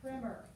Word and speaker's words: primer: There is a word spelled exactly the same way that's pronounced primer, but this one is primer.